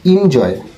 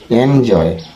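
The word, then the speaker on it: enjoy: জে ও ওয়াই এনজয় আমরা এতদিন বলতাম ইনজয় ইনজয় না এটা হবে এনজয় অর্থ মজা করা বা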